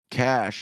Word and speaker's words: cache: Ball Dan says cash is pronounced like cash. It rhymes with dash or flash. Even though it ends with a ch, the sound is catch or catch it.